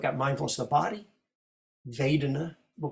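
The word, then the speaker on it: vedanā: word with a V, Vedana. So if they say Pali with a Burmese accent, they do it with a W. A Burmese accent is Vedana, but the most international standard Pali is V, Vedana, just so you don't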